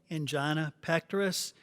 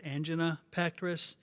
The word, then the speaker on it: angina pectoris: I want to consider a common cardiovascular problem called angina pectoris. You can also pronounce that as angina pectoris.